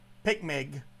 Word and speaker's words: PICMG: p i c mg or picmig which i'll just pronounce is that for the rest of the video um have those even